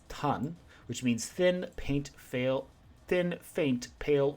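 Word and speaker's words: 淡: Alternately pronounced in kanji compound words, this is tan, which means thin, faint, pale, or fleeting.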